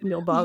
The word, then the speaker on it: Nilbog: And they go to like this isolated house and in Nilbog. Am I saying it right? Nilbog goblin. Goblin backwards. Yeah. Nilbog.